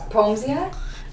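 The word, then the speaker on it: Poemsia: Peomsia?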